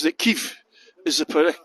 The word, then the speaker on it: Kyiv: She says that Kyiv is the correct pronunciation because I wasn't sure which one to